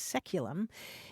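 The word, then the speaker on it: saeculum: c u luu m which in English is pronounced seculum it's traditionally understood to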